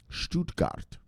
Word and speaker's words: Stuttgart: operating company for the public exchange in stuttgart stuttgart that's how you pronounce it this makes BS DX the first